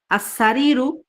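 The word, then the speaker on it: السرير: পড়তে পারলাম না তারপরে দেখুন আসারিরু এখানে আমরা লাম পড়তে পারলাম না তাহলে যদি আমরা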